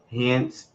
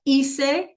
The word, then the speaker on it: hice: Hence, turismo in Tokyo. Muy bien. So, hice, that's how you would pronounce it, right?